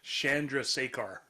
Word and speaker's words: Chandrasekhar: Chandrasekhar.